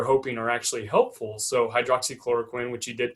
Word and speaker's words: hydroxychloroquine: So hydroxychloroquine, which you did pronounce correctly, and azithromycin, which is the medication they're combining it with.